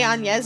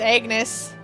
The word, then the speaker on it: Agnes: Um, and I don't know if that's why they say Anes instead, but I'm I'm willing to believe you that it's definitely pronounced Agnes.